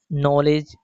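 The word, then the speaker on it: knowledge: यदि एल से पहले और वर्ड के शुरू में के हो तो के साइलेंट होता है। फॉर एग्जांपल के लिए जैसे नाइफ नॉलेज नोक।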